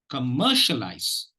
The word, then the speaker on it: commercialize: this no compare okay commercialize commercialize commercialize commercialize now if you notice the second syllable is being given the